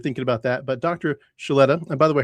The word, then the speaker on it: Suleta: Suleta, and by the way, her name is spelled as if it does not have an H, but it's said with an H, right?